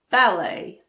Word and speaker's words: ballet: And then we have words that have been taken directly from French and end in et, such as ballet, buffet, gourmet. But don't let that confuse you.